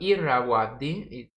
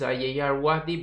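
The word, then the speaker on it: Ayeyarwady: along the river um aye arwadi which is also called the irrawaddy it has two names the real name is iarwadi but it's quite difficult to pronounce for most of the people so the other name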